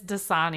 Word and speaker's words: Dasani: by Pepsi and Aquafina I never pronounce this Water Company right - money it's Dasani oh just Sonia sorry